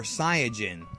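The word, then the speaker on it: Saiyan: fine it doesn't matter if you pronounce it science saying or seijin either way just remember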